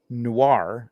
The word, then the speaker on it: Noir: Alberto Hernandez at Noir is how that's pronounced.